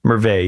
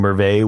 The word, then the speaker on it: Merveille: Merveille. Yeah. That's how we say it, because we're used to having French in the country with the EIL at the end. You don't actually pronounce it. I don't know how other people pronounce it.